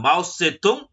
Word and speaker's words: Mao Tse-tung: तो माओइज्म में ये माओ कौन है, उन्हीं को हम देखेंगे जिनका नाम है माओ से तुंग, या हम कह सकते हैं कि माओ जेदांग भी बहुत से लोग बोलते हैं उनको।